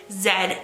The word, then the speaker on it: Z: the planchette move between Zed and O very quickly now I know there's probably going to be a few comments there saying that is pronounced Z but I'm Canadian so either way if